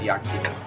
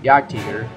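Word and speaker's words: Jagd: me yaker 8.8 CM I actually did ask my German friend how you pronounce this and he said yaker so yaker 8.8 CM I actually have this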